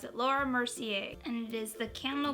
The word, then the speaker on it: Laura Mercier: be trying out a new foundation this is Laurie oh I always mispronounce it Laura Mercier and it is the candle glow soft luminous